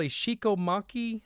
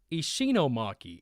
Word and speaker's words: Ishinomaki: And I think it's called Ishikomaki, I think. Ishinomaki. Ishino, I'm trying to look down and pronounce it.